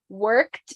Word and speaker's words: worked: it's okay no so how do we pronounce worked in the past ignore the E include a t worked worked ignore the e pronounce it like a t worked worked that's how